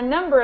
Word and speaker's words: number: After a number of injections, my jaw got number. So the difference in pronunciation here is just that this one, you don't hear the B sound.